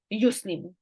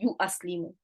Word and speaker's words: yuslimu: So hamzatul qata gets dropped in yuslimu. Will you all remember this? Just for the ease of pronunciation, you do not say you aslimu. It is not you aslimu, you just say yuslimu.